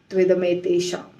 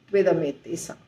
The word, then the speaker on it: त्विदमेतेषाम: तो तु इदम एतेषाम हो जाता है त्विदमेतेषाम, त्विदमेतेषाम, त्विदमेतेषाम।